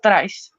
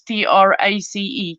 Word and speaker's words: Trys: probably is stress but it's pronounced trace um like you would pronounce t-r-a-c-e trace ruth welcome i'm glad